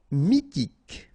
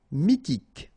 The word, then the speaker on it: mythique: r he mineur mineur mythique remember q u a dn Ok. And then y pronounced like mi h is not pronounced mythique d'origine nomade pronounced officiel paranoïque ok remember q u e k Paranoque.